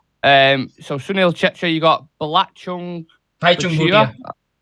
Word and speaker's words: Bhaichung Bhutia: So Sunil Chetri, you got Bhaichung Bhutia. How are you pronouncing it? Bhaichung Bhutia. Bhaichung Bhutia.